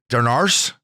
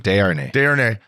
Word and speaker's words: Desharnais: Vincent Darnars. He's pretty good, man. He's a perfect sixth defenseman. Desharnais.